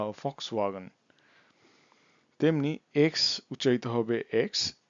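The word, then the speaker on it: Volkswagen: যেটা সেটা হবে ভে উদাহরণস্বরূপ ফাক্সওগান আমরা যেমন এটাকেওগান বলি না জার্মানিতে উচ্চারিত হবে ফক্স ফক্স ওয়াগন তেমনি এক্স উচ্চারিত হবে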